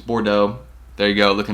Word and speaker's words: Bordeaux: that colorway is really good i mean it's bordeaux there you go look at me saying it